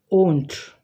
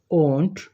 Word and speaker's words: won't: The next word is won't. Will not becomes in contracted form won't, but the pronunciation is not won't, it's won't. Won't. Here the diphthong sound comes here. Oh.